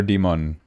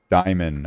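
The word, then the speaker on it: Dimon: Is it Diamond or Demon? I'm going to Google Translate this. Where is my Google Translate? You know what? Brands English. How do you pronounce Diamond? Diamond.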